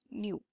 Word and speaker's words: knew: Iknew, new. It is pronounced as new.